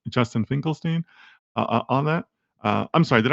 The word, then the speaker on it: Finkelstein: That's the best way to reach out, and it's Justin Finkelstein on that. I'm sorry, did I pronounce that? I think I pronounced it incorrectly. It's Finkelstein, but yeah, that's okay.